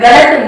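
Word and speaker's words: गलत: சோ ல அ அந்த உச்சரிப்பு இருக்கணும். க ல இத். இந்த இந்த த இத்தா மாதிரி இருக்குது நமக்கு ரூல் தெரியும். லாஸ்ட் லெட்டர்ல அ உச்சரிப்பு இருக்கு. இத பிரிச்சா இத் பிளஸ் அ. சோ இது ஸ்ட்ரெஸ் ஆகுது. க ல இத், கலத்.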